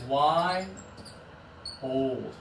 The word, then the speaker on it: wild: This one is why old. That's it, Chari. Good job. So I like to tell students, slow this one down to 2 syllables.